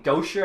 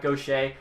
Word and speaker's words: Gaucher: at number 22 get nathan gosher i think is how you say it not gaucher um at least that's what the uh draft people say though maybe they're wrong that's a bit earlier